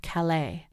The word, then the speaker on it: Calais: Well, uh, near where I did some of my growing up in New Brunswick over the border, there was Callus Maine, which is after the French Cala.